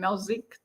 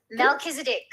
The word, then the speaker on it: Melchizedek: and Mel Mel I can't say his name malzique Melchizedek yeah okay so he's popped up he's um